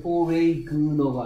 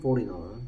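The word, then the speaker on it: foreigner: 포리너는 뭔지 포리너는 뭔 뜻인지 발음은 포레이그너가 아니고요 포리너입니다. 포리너 포린 포리너 G가 소리 안 납니다.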